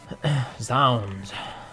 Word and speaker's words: Zounds: Zounds. See, Zounds rhymes with hounds.